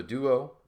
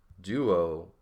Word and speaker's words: duo: think about this the the D here is pronounced the tip of your tongue is behind your teeth and then you have a oo sound right so Doo and